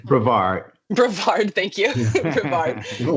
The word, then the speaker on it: Brevard: It's Brevard. Brevard.